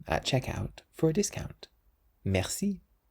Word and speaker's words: merci: And that's the same with the word that we've just learnt, merci. Merci, which means thank you or thanks. So you always stress the last part of a word in French.